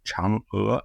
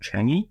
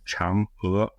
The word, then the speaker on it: Chang'e: The name of the Chinese moonlander program is pronounced Chang'e, not Changi, because that's the place in Singapore, but it's pronounced Chang'e, like an ER with an upward inflection.